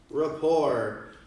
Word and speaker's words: rapport: Build rapport. The T is silent.